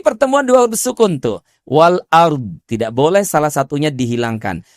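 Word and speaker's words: والأرض: Yas'aluhu man fis samawati wal ard. Saya ulang. Yas'aluhu man fis samaawati wal ard wal ard. Sebab huruf dhad pun juga dia punya sifat istitalah mengalir memanjang.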